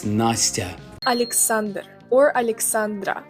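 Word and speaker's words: Настя: And it's definitely not nasty. It's Nastya.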